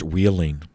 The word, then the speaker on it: Wheeling: When that first Wheeling, and it's spelled like wheel, I-N-G, so W-H-E-E-L-I-N-G.